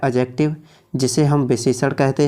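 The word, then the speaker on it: adjective: Number 3 पे आता है हमारा एडजेक्टिव, जिसे बहुत से लोग पढ़ते हैं एडजेक्टिव, लेकिन दोस्तों इसकी सही प्रोनाउंसिएशन होती है एडजेक्टिव। जब कभी भी ए और जे के बीच में डी आए तो डी हमेशा साइलेंट रहती है।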